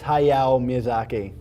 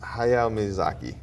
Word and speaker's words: Hayao Miyazaki: you know how to say it yeah it's hayao miyazaki hayao miyazaki awesome all right so he's the creative howls